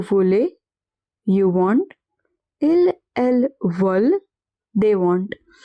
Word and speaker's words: veulent: Ils, elles veulent, they want. E n t at the end of a verb is always silent.